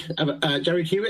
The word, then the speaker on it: Huet: Huet, have I pronounced that right? It is indeed.